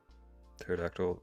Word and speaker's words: pterodactyl: you're wrong I'm curious pterodactyl this the p is silent Not Invisible rexi did you think